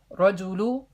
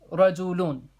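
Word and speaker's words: رجلٌ: be to dumbest and it won't be pronounced just Raja Lou it would be pronounced ride Zulu lune right and anybody like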